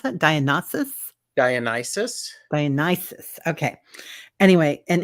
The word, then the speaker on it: Dionysus: How do you pronounce that? Dionysus?